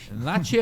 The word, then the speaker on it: Nachi: voltando paraa na né Nati é a pronúncia em japonês na é pronuncia em japonês o nosso Tupiniquim Nash n é Aceito Sem problema nenhum e é bacana isso